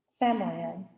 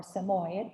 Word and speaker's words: Samoyed: Cheyenne is a big, fluffy Samoyed, or Samoyed, depending on how you pronounce it, who belonged to one of my minister friends from Synod School.